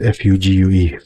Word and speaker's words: fugue: It's spelled F-U-G-U-E, Fugue.